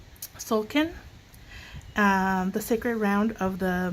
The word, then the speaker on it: Tzolk'in: Together, the glyphs and numbers from the, I can never pronounce this, okay? So it's Tzolk'in, the sacred round of the Mayan calendar.